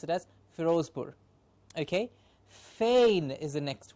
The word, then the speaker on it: Firozpur: In English we'll pronounce it as Firozpur.